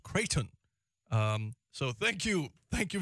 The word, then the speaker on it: Creighton: Bonaventure and Creighton is pronounced Creighton so thank you thank you very much coach